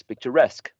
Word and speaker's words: picturesque: last box or rectangle, these suffixes attract the stress. Whenever you use them, that is the syllable which is going to be stressed. So pay becomes payee, employ becomes employee, becomes journalist, cigar becomes cigarette, and picture becomes picturesque. Okay, so you need to